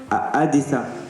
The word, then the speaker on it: Odessa: O et le a à chaque fois que je dis que j'allais à Odessa on me disait non Adessa Adessa Adessa alors bon si